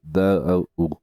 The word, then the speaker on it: Tao: No obstante que en chino se escriba ta o se pronuncia casi como si se escribiera da U.